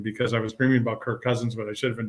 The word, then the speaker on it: Kirk Cousins: in the lobby so I had to look up the right pronunciation of his name so in case I saw him that I you know I didn't call him perk or perch and um I went